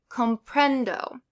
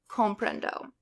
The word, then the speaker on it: comprendo: So, words ending in a vowel, N or S, you're going to stress the second to last syllable. No accent mark is needed. So, you're going to say comprendo. You wouldn't say comprendo.